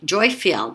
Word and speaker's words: Jophiel: I know it's not Joy, but part of her name is joy, Jophiel. That's how you say it, Jophiel.